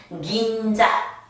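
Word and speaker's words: 銀座: 니은 발음으로 해라. 긴자. 빨리 하면 안 됩니다. 응이 하나의 박자를 가지고 있기 때문에 긴자, 긴자.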